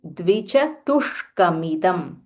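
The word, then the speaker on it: द्विचतुष्कमिदम्: Dvichatu, dvichatushkamidam. Dvichatushkamidam. There is a half murdanya sh.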